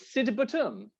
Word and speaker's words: Sidebottom: And their surname was Sidebottom, but they pronounced it Sidbottom. No, they didn't. They sort of squashed the vowels.